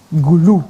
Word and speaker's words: Gulu: Gulu. Originally born in Pade. Yeah, okay. Kekwa Acholi. And I thank him for pronouncing guru very well. Some people call it guru.